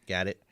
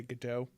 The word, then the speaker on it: Gadot: it i think uh i think the the proper way to do it is pronounce the t even though i want to say godot it's got i think got it got it she got